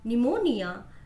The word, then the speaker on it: pneumonia: P is not pronounced in these words. P चा उच्चार या शब्दांमध्ये केला जात नाही. Cupboard, then pneumonia, psychology, coup, and psychiatrist.